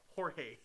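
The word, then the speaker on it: Jorge: sin she said George's name is spelled is pronounced hey h o r h a y horge oh look out oh we got KK standing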